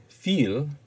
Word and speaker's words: viel: The word viel simply means much or a lot. Notice that the V has the sound of F.